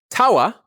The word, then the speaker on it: tawa: We have tawa, drawn with a pair of legs facing to the right.